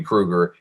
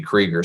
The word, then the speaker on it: Krieger: tony so tony kruger who i've been saying his name is tony krueger he just told me a week ago that it's pronounced tony krieger so i want to